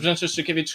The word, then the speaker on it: Brzęczyszczykiewicz: Brzęczyszczykiewicz, Chrząszczyszowoszyce, powiat Łękołody.